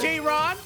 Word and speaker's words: Jaron: Congratulations, Jaron. We'll see you tomorrow night. Hey, thank you. Thanks for saying my name right, too. Everyone. All right, Well, thanks, guys. J-Ron.